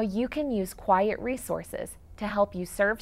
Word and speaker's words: QIAT: indicators for assistive technology also known as q-i-a-t pronounced quiet for short today i am speaking